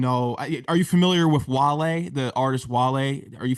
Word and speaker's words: Wale: Well, this streamer didn't even know how to pronounce his name. His name's Kai Cenat, but he didn't know who Wale was. I think he called him Wally.